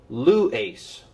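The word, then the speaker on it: λύεις: Similarly, this word is pronounced lues.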